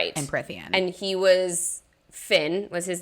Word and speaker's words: Fionn: And he was Finn, was his name, Fionn. Which I super pronounced Fion until about a week ago.